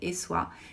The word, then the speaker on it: Essoyes: essa cidadezinha de Essois, se escreve Essoyes, mas se pronuncia Essois, que é a pequena cidade super charmosa aonde viveu o Renoir.